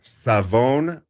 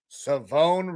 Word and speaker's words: Siobhan: But he actually came out and said it is Savone Rivell. Savone Rivell. All right. Yes, Savone Rivell. So the SH, there ain't no SH knows. It's Savone Rivell.